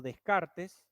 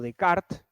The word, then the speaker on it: Descartes: x que estamos comentando un pensador llamado Descartes o de Kart Depende como lo quieran pronunciar con que digan Descartes está bien de Kart va a pensar